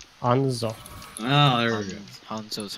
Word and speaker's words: Hanzo: His name, how do you pronounce it? What name? The Japanese guy with the bow, what's his name? Hanzo.